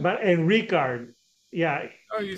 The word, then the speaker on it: Rikard: but and Ricard, yeah, Oh, you said it Rick.